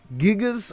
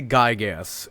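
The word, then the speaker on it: Giygas: Gigas or Gygas? I say Gygas, because, well, it's how I've always kind of said it.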